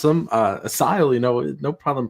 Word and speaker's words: Asyl: Chase says Google pronounces it Asile. Azul. Asile. Azul. Asile. That says Azul. No, that's Asile. No, it says Azul. No, the U is pronounced like a Y, like Asile.